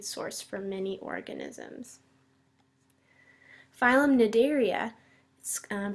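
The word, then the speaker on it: Cnidaria: very important food source for many organisms phm nidaria um pronounced nidaria the sea is silent is is made up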